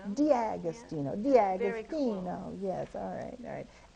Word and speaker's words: D'Agostino: Did I pronounce it correctly? D'Agostino. D'Agostino.